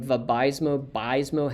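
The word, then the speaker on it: Vabysmo: powerful um for aab is bispecific the name VMO bismo has to do with the bispecific that's how they like you to pronounce it binds an2 and vfa probably should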